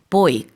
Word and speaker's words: buoy: 하고요라고도 합니다 스펠링은 인데요 보통 영국에서는 boy 그니까 boy 발음이 비슷해요 똑같나요 Bo 똑같 그러네요 링은지만 그렇게 발음을 영국에서 하고 미국에서는 위 이러는 거 같아요 다 둘 다 가능합니다음 여기서는 동사로 썼기 때문에